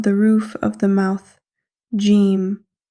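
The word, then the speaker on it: جيم: Jeem. In English, we say like J in jump. And also, jeem is a light letter as we are pronouncing it naturally. Now, practice with me. Jeem.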